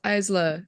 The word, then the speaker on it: Isla: like thing about how her name is in fact pronounced Isa if any if if if anyone is annoyed by the way we're saying it it is how it is pronounced and it did bother